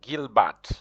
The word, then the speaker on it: Gilbert: friend Mona misapel Gilbert you'll notice the pronunciation of Gilbert in French is you'll pronounce it in French you hardly pronounce the last consonant unless there's an e after the last consonant so here the consonant it is a consonant T you don't pronounce it you say Gilbert you see that I